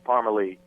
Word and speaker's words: Parmalee: it correctly so so so we like throw on an extra E Yeah throw an extra e put a in it and people still have a tough time pronouncing it sometimes but uh yeah it's Parmer Lee well you guys you